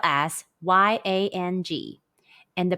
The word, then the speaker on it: iang: Pinyin, the pronunciation is yang. It's like the sound of yang in the English word, but the G sound is barely pronounced and with mouth opened as wide as you can.